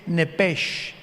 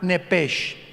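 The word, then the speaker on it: נפש: en el hebreo es nepes con s h al final Como suena nepes pero la sh en hebreo se pronuncia como J entonces se pronuncia nepe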